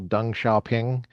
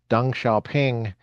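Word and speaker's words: Deng Xiaoping: Like for example, Dung Xiaoping. Dang Xiaoping. Dung is d e n g not d u n g like dung like uh like elephant dung like crap.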